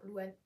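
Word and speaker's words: Lou Anh: c'est pas mon prénom il s'écrit l o u espace a n h genre Louan mais je sais moi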